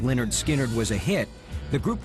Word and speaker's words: Lynyrd Skynyrd: released its first album in november 1973 although pronounced leonard skynyrd was a hit the group wasn't taken seriously